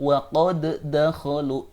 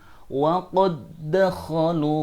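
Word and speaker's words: وَقَدْ دَخَلُوا: Anda tidak boleh membacanya sebagai "waqod dakolu ", itu tidak diperbolehkan. Itu harus di- idgham-kan. Artinya sukun dal di sini dimasukkan ke dalam harakat dal, yaitu “waqadakalu bil kufri wahum qod khaju bih”.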